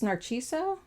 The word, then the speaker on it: Narciso: it bookmarked here and I think it's Narciso Naro it's spelled n a r c i s o but I when I looked it up it was a CH sound um Rodriguez and um